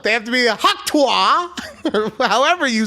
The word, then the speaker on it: Tuah: It's Tuah.